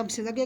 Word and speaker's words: विशेषज्ञ: right विशेषज्ञ का सही उच्चारण है तो य विशेषज्ञ का सही उच्चारण है विशेषज्ञ इसको विशेषज्ञ बोला जाता है